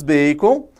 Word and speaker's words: Bacon: por francis bacon né francis bacon é isso mesmo se pronuncia bacon você deve tá rindo aí né mas se pronuncia assim mesmo bacon veículo a gente brinca